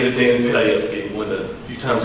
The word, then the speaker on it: Pidhajecky: Well, my name is Damon Pidhajecky. One of the few times you'll hear my last name pronounced.